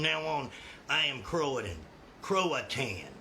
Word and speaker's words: Croatan: Croatan is actually how you say it.